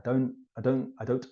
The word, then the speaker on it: don't: I don't think. We just say, I don't think so. When I say don't, I almost never pronounce the T when the sentence continues.